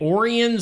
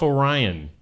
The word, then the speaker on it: Orion: Orian Samuelson. Yep. Yep. Oh, yeah. He was Why didn't he just call himself Orion? Cuz that's not how they pronounced it.